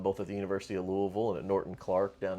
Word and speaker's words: Louisville: You got say like you got to say it like you have a bag of rocks in your mouth. That's the Yeah. try to move your mouth as little as possible as you say it and you'll come out okay.